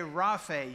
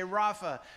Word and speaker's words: Rophe: And so I'm used to saying Rophe. You could say Rafe. You could say Rophe. You could say Rapha. There's a lot of different pronunciations of this particular Hebrew word.